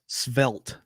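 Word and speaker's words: svelte: e weird word here this is how it's pronounced svelt so hollywood right enshrines the notion that we all must be schvelt slender and elegant yep slender and elegant and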